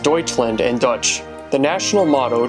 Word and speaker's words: Deutschland: have played walked off one map fact about deutschland 65 of all autobahn or highways have no